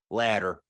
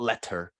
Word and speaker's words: letter: right to tease uh one would expect a t kind of sound in there but it's actually if you say it like uh an American right like really kind of smushing your mouth to get his glitter ladder ladder right like that's the sound it's not letter as you would expect